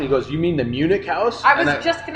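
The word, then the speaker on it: München: It's spelled Munchen, nice. Munchin, and I was like, okay. Well, and I wonder if Munchin spelled like that, if in German it means like from Munich or something.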